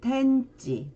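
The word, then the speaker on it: 天地: 천지일 때는 텐지, 텐, 그리고 청천 할 때는 세이텐 이렇게 읽어줍니다.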